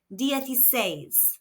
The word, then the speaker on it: dieciséis: The letter I makes an E sound in Spanish and the C followed by an E or I makes a F sound. There is an accent on the last syllable says. So we need to emphasize or stress this syllable. Disay.